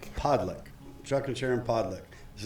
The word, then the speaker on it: Podlich: Podick. Podick.